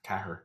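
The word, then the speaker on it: ceathair: it, is TG Cahir, because Cahir is how you say 4. Cahir.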